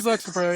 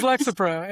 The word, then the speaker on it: Lexapro: It is Lexro. Yeah, it's Lexro. It is Lexapro. It is Lexapro.